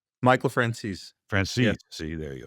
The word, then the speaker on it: Franzese: Franzese. Michael Franzese.